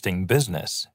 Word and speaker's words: business: He works in business. He works in an interesting business. 같이 세워 볼까요? He works in an interesting business. 자, 여기 아까 business 할 때 I는 묵음이었죠.